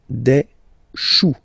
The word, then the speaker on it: choux: Pluriel, des choux.